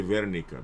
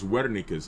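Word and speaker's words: Wernicke: Now right here posterior speech area is called Wikis area right uh some people say Verika because they pronounce W as a V but it's Wika's area right uh Wika's area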